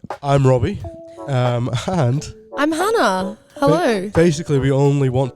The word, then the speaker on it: Hannah: no uh well I'm Hannah um as stated rhymes with Anna um and banana and I am currently